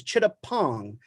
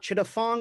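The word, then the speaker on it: Chittaphong: my last name is chitta pong that's right there's a ph in my name but in the thai spelling ph is a hard p so it's not chitta fong it's chittapong we've all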